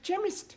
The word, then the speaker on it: chemist: me k e n chemist does not begin with a k it sounds like it begins with k C8 but that is making it chemist no the CH is pronounced c ah now I'm understanding c